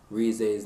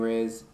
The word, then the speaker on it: Rize: I've been pronouncing Rize's name wrong the entire series. I've been saying Rez is Rize.